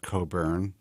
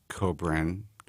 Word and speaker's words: Kobren: It's not Coburn, it's Kobren, but I chose not to correct him during the ID because I thought it was funny.